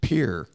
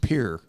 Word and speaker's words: Pierre: know that's actually incorrect what is it it's pronounced Pierre here that's good well